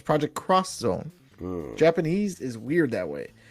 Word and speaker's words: Project X Zone: later found out that the x is cross so it's project cross zone japanese is weird that